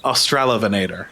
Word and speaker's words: Australovenator: I like Australovenator. Just have it flow and not have Loveinator in the middle of the name.